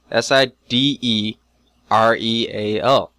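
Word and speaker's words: sidereal: it rightel yeah cederal s i d e r e a l so side real that is a weird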